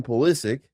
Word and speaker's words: Pulisic: the Netherlands Saturday yep after his injury Christian pulisic oh you nailed it may not play he's